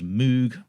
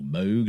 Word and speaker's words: Moog: We've got Alberto Bravin on lead vocals, acoustic and electric guitars, keyboards, Moog, or Moog, depending on how you pronounce it, a Mellotron.